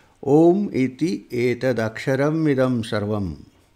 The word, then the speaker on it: Aum: It describes the significance of Aum. And it says, Aum iti etad aksharam idam sarvam tasyopavakhyanam bhutam bhavat bhavishyat iti sarvam omkara eva yachanyat trikalatitam tadapi omkara eva. It says, Aum, A-U-M. A-U-M-A, Aum, this syllable is all this.